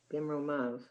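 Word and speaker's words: במרומיו: There's a yud, it's silent. Mhm. So what I would do, I would circle that yud, and I would write a little note, silent. Bimromav. That's a sign, that yud is silent.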